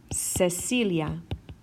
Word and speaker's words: Cecilia: my hard cut sound if I want my soft sound then my C is going to be followed by an e or an i okay for example el nombre Cecilia Cecilia Cecilia or the